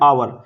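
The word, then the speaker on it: hour: आवर, हावर नहीं बोल रहे इसको हम, एच साइलेंट है, इसको बोल रहे हैं आवर।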